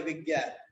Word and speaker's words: বিজ্ঞান: এই বর্গের জয় কিন্তু উচ্চারণ করি আমরা দুইটা গ, আমরা দুইটা গ উচ্চারণ করি, এই জন্য এরকম হয়েছে বিজ্ঞান।